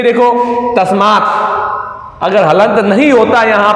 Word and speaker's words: तस्मै: तो इसका प्रोनाउंसिएशन जब करेंगे तो आई आना चाहिए लास्ट में। तस्मै, तस्मै, ध्यान रखना।